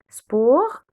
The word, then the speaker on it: sport: Sport, on ne prononce jamais le S à la fin.